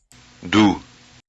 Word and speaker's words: doux: Doux. Do, D-O-U-X, do. The X is not pronounced.